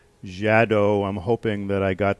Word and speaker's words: Xadow: of thing called the jadow doino um I hope I'm pronouncing that correctly the it's spelled x a d o w and I'm I'm pronouncing it jadow I'm hoping that I